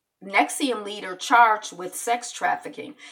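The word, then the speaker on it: NXIVM: I guess the person who was running it nexium but it's spelled in X I VM but it's pronounced nexium I guess he was like tattooing his or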